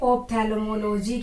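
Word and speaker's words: ophthalmology: इसका correct pronunciation क्या है या इसकी करेक्ट स्पेलिंग क्या है, ठीक है। तो स्टडी ऑफ आईज को आप बोलोगे ऑप्थेल्मोलॉजी।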